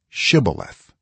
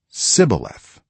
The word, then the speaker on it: shibboleth: if he replied no, they said, all right, say shibboleth. If he said sibboleth, because he could not pronounce the word correctly, they seized him and killed him at the fords of the Jordan.